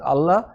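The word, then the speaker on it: الله: কিন্তু খেয়াল করুন সূরা ইখলাসে কুল হুয়াল্লাহু আহাদ, হাফেশু ওয়াজবর ওয়া, তারপর আল্লাহ এসছে। ওখানে কুল হুয়াল্লাহু আহাদ, আল্লাহ মুখ রাউন্ড হয়ে ফুল মাউথে উচ্চারণ হবে।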